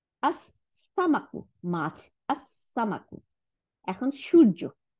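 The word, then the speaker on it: السمك: হ্যাঁ, আচ্ছা, তারপর সিন, সিনের বলে আস, এই যে লামটা উচ্চারণ, লামটা গিয়ে সিনকে দুইটা সিন বানাই দিছে, তাই না? আস সামাকু, মাছ, আস সামাকু।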